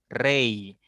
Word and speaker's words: rey: Porque esta I se pronuncia como una I latina. Rey, rey, porque está al final de vocal, perdón, de palabra, y está después de otra vocal.